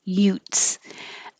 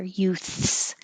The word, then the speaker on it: youths: You have to have the TH here. Youths, youth. Make sure you have airflow. Youths before you pull your tongue back for the S.